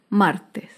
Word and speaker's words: martes: Por último, otro ejemplo de palabra grave sin tilde es la palabra martes. Martes se acentúa en la penúltima sílaba, pero no lleva tilde porque termina en S.